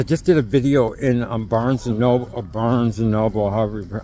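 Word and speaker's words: Barnes & Noble: It's because I just did a video in Barnes and Noble, however, I always pronounce it the wrong way. But I used to say Burns and Noble, I don't know why.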